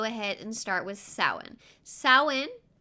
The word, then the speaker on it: Samhain: and start with samhain saoin kind of pronounced a little differently than it's spelt and it's almost spelt as if it says samhain but that's not the way it's pronounced it is samhain and it is celebrated